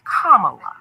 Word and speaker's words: Kamala: opponents and supporters alike it's like the punctuation mark kamala number two four years ago many black